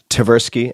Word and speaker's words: Tversky: a name earlier and I might get the pronunciation wrong here but a mists verse it's a very mr. Bert Amos Tversky Tversky and the undoing project so we have amos